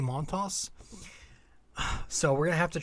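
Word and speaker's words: Montas: monta by the way it's pronounced um the s was like saying it you pronounce it frankie montos so we're gonna have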